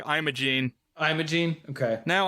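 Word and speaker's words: Imogene: So, the the way that I wonder if how it's supposed to be pronounced, but the way that Meline Con says is like I'm a gene.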